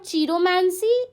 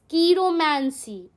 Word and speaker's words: chiromancy: तो इट्स नॉट चीरोमैंसी, इट्स कीरोमैंसी.